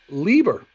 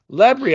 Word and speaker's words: Lebre: want to welcome Lieber from circular City to the business of fun what's up man hello Dave it's a pleasure to be here my name is lebri I said it wrong forgive me no you